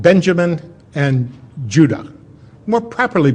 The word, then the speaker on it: Judah: were called Benjamin and Judah more properly pronounced anounced UDA because we didn't get the harder sound to the J until about 200 years ago so this is what